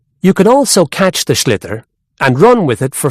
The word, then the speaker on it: sliotar: this ball called a sliotar, that's s l i o t a r. So, it's not spelled the way it's pronounced.